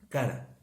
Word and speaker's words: cara: Aquí la palabra que se utiliza para clamar es la palabra cara, como si habláramos del rostro cara, pero con acento en la A, que básicamente significa